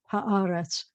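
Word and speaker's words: הארץ: This word that means the land is ha haaretz, haaretz, and the accent's always going to be on the ah for this word, haaretz.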